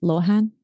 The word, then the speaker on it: Lohan: And Lohan, this is how you pronounce it in English.